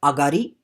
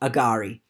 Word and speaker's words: agari: it is not pronounced agari uh which is probably the most common uh pronunciation uh heard throughout australia and it's just a simple change of the accent in the middle of the word instead of saying agari